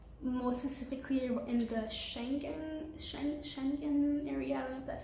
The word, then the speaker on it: Schengen: around europe or more specifically in the schengen schengen area that's how you pronounce it so yeah make sure you get